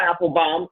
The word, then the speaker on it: Apfelbaum: Very excited to have a very special guest, Apfelbaum. And I want to make sure I'm pronouncing it correctly, right?